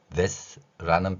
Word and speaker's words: that: 자, 그러면 that라는 발음, that, 여기 that까지는 한 번의 소리가 나올 것입니다. 여러분도 한번 해보세요. that, 윗니하고 아랫니 사이에 혀를 넣고 that이라는 소리를 내는 것입니다.